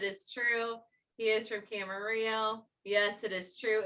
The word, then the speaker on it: Camarillo: true he is from camarillo yes it is true it really does rhyme with his last name it's such a weird